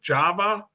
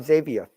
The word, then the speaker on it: Xavier: if you're like um if the name is j-o-s-e it's pronounced jose oh okay here we